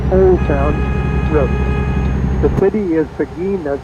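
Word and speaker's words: Seguin: The city is Pagin that's spelled S E G U I N Pagin, Texas.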